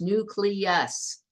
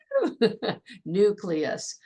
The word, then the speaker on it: nucleus: the nucleus excellent pronunciation remember the L comes first nucleus I was just listening to a politician talking the other day calling it nucleus and I was like nucleus all right so what's